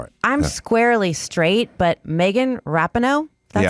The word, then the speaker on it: Rapinoe: I'm squarely straight, but Megan Rapinoe, that's how you say it, she's just flat out hot.